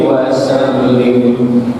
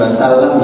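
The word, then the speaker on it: وسلم: ala alihi wa sahbihi wa sallim. Itu bukan wasallam ya, apa harusnya wasallim ya. Jadi disesuaikan dengan fi'il amrnya yang depan tadi sholli. Kalau bapak bacanya sholla maka wasallam, tapi kalau sholli wasallim.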